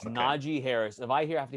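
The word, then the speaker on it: Najee Harris: Sunday morning session and everyone learn how to pronounce the damn name it's Naji Harris if I hear have to hear Najee one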